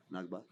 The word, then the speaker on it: Nakba: Nakba? Nakba.